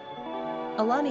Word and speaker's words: Alani: Quick Facts ON ALANI GENDER: Girl ORIGIN: American NUMBER OF SYLLABLES: 3 RANKING POPULARITY: 614 PRONUNCIATION: ə-LAH-nee SIMPLE MEANING: Orange (fruit)